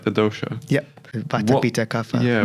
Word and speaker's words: dosha: they were able to identify exactly, am I pronouncing this right, the dosha?